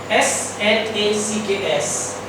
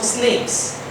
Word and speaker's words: snacks: And the problem is this: S-N-A-C-K-S. The pronunciation of that word is snacks. But the pronunciation which Mr. Patel occurred in China was snakes.